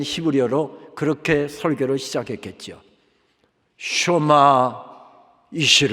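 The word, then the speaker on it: שמע: 그렇게 설계로 시작했 겠지요 슈마 2시로 의 이스라엘아 들어라 그러면서 설교가 시작됩니다 흔히 우리가 아니지 20 년 교육장 말씀을 쉐마 의 말씀 이라고 해서 쉘 뭐 쉐마 합니다만은 정확한 10 리어 발음은 슈마허 들으라 라고 하는 뜻이지요 이것을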